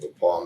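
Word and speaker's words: The Pas: one of them was called the Paul Manitoba it's spelled Pas it was an Indian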